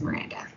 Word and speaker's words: Mirandia: So it's spelled Mirandia, for those of you that don't know. But my name is Miranda.